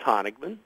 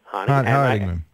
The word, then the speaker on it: Honigman: By the way, you spell your name Honigman. How you pronounce that? That's Honigman. Honigman.